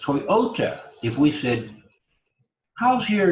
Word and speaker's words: Toyota: certain way of accenting we don't say Toyota we say Toyota that middle syllable is emphasized Toyota if we fit house